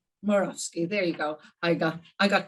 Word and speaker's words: Morawski: I'm not even going to try and pronounce your last name because I always pronounce it wrong. Morawski? Morawski, there you go.